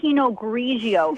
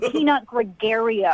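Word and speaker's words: Pinot Grigio: You don't even know how to say penog grigio. It's not peanut gregario.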